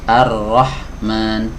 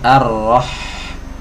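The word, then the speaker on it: الرحمن: lebih lama harrah Nah bukan ar-rahman tapi arroh ngalir ya dialirkan lebih panjang tapi enggak boleh terlalu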